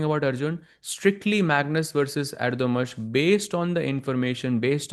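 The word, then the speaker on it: Erdoğmuş: That is, as somebody pointed out, Erdogmus is the correct pronunciation.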